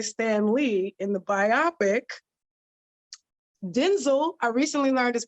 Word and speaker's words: Denzel: make sure you say that it's Denzel not Denzel okay you can say